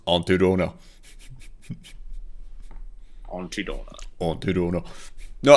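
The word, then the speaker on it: Aunty Donna: It's pronounced Auntie Donna.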